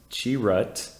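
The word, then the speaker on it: Chirrut: moving on to donen's cherit inway pronounced chirat uh he's no Jedi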